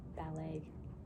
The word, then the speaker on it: ballet: anymore i don't know what has a t in ballet it's like a silent t isn't it ballet it annoys me and